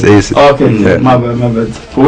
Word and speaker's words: Acesiz: Yeah, so like it's Acesiz. The reason why I spell it that way is so nobody else can infiltrate it.